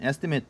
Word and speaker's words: estimate: 아, 그다음에 이게 그 estimate 추정하다는 이게 그 명사로 읽을 때는 estimate 이렇게 읽어야 되고 동사로 읽을 때는 estimate라고 읽어야 돼요.